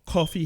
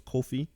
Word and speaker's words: Kofi: rest of the match from the ramp call coffee hit the trouble in Paris in paradise and I said his name wrong is Kofi hit the trouble in paradise this match lasted